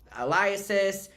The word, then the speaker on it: alias: Some sources agreed to share their accounts under, aliases, or wait, is that the word where you'd say that, under like a fake name?